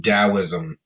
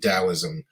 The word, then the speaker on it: Taoism: these three first being taoism uh you will see that spelled with the letter d also um same thing taoism uh 2.7 million followers